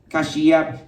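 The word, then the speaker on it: Kashyap: His real name is spelled Cash and then Y-A-P. Kashiap.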